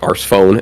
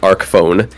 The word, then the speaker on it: Arc Phone: then they jokingly said Arse Phone, and I was like, well, I guess because it's ARC, and I'm like, you would never say Arse Phone. It's clearly Arc Phone.